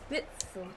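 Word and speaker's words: Witsel: Witzel.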